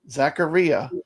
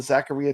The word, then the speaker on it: Zaccaria: on ad games uh Jason says it actually does rhyme with diarrhea Zacharia am I saying it